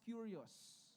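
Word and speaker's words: κύριος: Lord, that word Lord in the Greek is a word that is pronounced curious. Okay? Curious.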